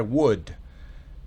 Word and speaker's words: would: contraer es el auxiliar would. Entonces digamos, I would not, I'd not, I wouldn't. You would not, you'd not, you wouldn't. He would not, he'd not, he wouldn't. Recuerde que esa L no se pronuncia, ya usted lo